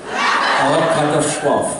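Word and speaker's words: Oachkatzlschwoaf: would love to challenge you to try to pronounce it. Yes. The word is Orkatzeschwach. Oh, cut the schwach. Orkatashwaf.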